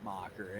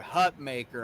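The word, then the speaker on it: Hutmacher: the wall uh I I've heard Hut maker I've heard H uh hut maer hut Ma I'm like it's mocker get it mock the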